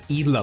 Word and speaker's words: Gila: The G is pronounced like an H. A Gila monster.